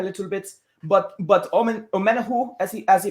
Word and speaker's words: Omenihu: drop back a little bit but but omen omena who as he as he pronounces it i think he's going to be